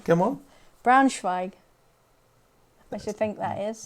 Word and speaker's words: Braunschweig: Pronunciation, come on. Braunschweig.